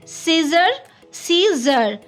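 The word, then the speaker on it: six heures: You can say 6 heures. Combined X and H will be Z.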